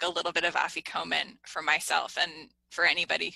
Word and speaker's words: afikomen: You used the phrase afikomen. Am I pronouncing that right?